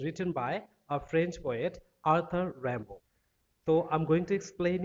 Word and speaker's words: Arthur Rimbaud: Okay, and remember this is a French word. And it should be pronounced like Arthur Rimbaud.